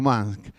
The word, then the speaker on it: Musk: Yo creo que está bien pronunciado, porque es con U, pero es Musk.